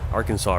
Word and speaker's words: Arkansas: down here we got the Arkansas River or as they would say in Kansas the AR Kansas River right this Arkansas